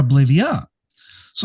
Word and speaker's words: Oblivea: And I was going to say oblivier or oblivia. So, I was a little confused. I hope I'm pronouncing it correctly.